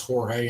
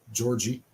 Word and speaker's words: Jorge: I think I think I'm pretty sure it's Jorge and not Georgie yeah I'm sure if I